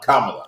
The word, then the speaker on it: Kamala: And it's not what they want to pronounce it, Kamala. Kamala. It's Kamala.